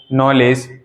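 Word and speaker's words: knowledge: हो गए ठीक है इन सभी में हमने देखो के का जो प्र बिल्कुल भी साइलेंट रहा है हमने कहीं भी के का प्रशन नहीं किया नो नॉलेज night knife not ठीक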